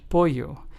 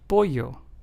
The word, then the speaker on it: pollo: Lleno and pollo. Notice how in both of those the two L's sound like a Y in English. lleno and pollo.